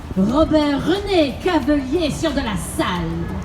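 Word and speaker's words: Robert René Cavelier sieur de La Salle: Or just want to hear his name pronounced very French? Robert René Cavelier sur de la Salle.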